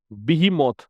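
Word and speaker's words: behemoth: And paved the वे, और इसने रास्ता तैयार किया, आधार तैयार किया, फॉर इंडिया, भारत के लिए, टू बिकम ए कमर्शियल बीमोथ, बीहीमोथ इसका प्रोनाउंसिएशन है, इसका मतलब होता है जाइंट।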